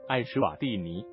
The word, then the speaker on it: Eswatini: 国名为 Eswatini，读音大致是爱什瓦蒂尼。